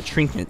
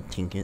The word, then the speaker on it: trinket: A trinket into the bush. Not a tinket, it's a trinket.